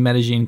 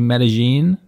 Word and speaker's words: Medellín: other by the way a quick note on pronunciation at some points in this video i say medellin in some points i say medellin is the typical spanish way of saying it medellin is what locals to the city say either